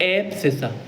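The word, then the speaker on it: abscissa: बहुत बार शब्द यूज़ होगा एप्सिसा। स्पेलिंग देख लीजिए। ए बी एस सी I double S ए एसिस। एफ्सिसा।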